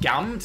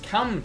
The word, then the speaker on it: Cammed: Oh, not Gammed. Cammed, sorry. Sorry, Cammed.